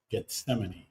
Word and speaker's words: Gethsemane: We got a cool little apartment um here in I don't know how to pronounce it. In English, we would say Gethse G. Gethsemane. Gethsemane.